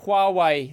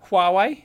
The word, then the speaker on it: Huawei: Now we have to talk about the Huawei thing. Am I pronouncing it correctly? That's how I say it. I say Huawei. Yeah. Huawei? Yeah. I usually don't even say the H usually.